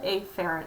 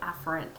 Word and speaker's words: afferent: arteriole this is the a ferret arterial and I'm pronouncing it funny it's really afferent arterial but just to emphasize the a there if you remember back